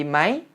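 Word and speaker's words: ไหม: 해주셔야 된다는 건데요 조금 저는 예를 들어 드렸던 문장 싸바이디 마이 잘 지냈어 라고 말을 할 때도 이렇게 싸바이디 많이 욕이 아니라 싸바이디 mi 라고 삼성으로 발음을 했었죠 4 스크립트를 보시면 마이 단어 위해 4성 표시가 돼 있고 괄호 표시 가 어가 로 표시한 에 삼성 표시를 따로 해두었으니 까요 발음은 반드시 삼성으로 해 주시기 바라고요 어 회화에 있어서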